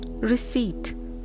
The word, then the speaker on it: receipt: W is silent daughter receipt p is silent in the word colonel